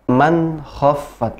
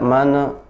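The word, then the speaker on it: مَنْ خَفَّتْ: Man khaffat, langsung, tidak mana. Nun sukun bertemu dengan kha, izhar, jadi jelas.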